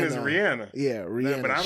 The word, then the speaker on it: Rihanna: we've been saying Rihanna name wrong for years. Apparently It's her name is Rihanna.